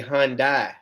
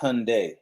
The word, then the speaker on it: Hyundai: saying it right Rico what's that you saying Hyundai that's how it's pronounced no it's not you need to say Hyundai you you talking about you you said you